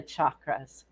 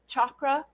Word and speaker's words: chakra: loved learning about the chakras by the way you will hear them pronounced chakra chakra and chakra depending on a person's accent and where they learned about the chakras what most intrigued me